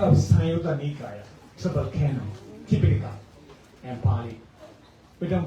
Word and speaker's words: Tipitaka: That's a part of Sayutta Nikaya, triple canon, Tipitaka, and Pali. We don't pronounce Tripitaka. If you pronounce Tripitaka, it is like Sanskrit.